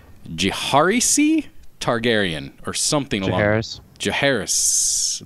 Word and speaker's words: Jaehaerys: Jaehaerys. Jaehaerys. There's an S at the end.